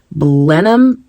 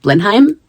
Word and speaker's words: Blenheim: I will write it on the screen because I have said it wrong multiple times. Oh, I have it in my notes. I have it in my notes and it is Blenham. Blenheim.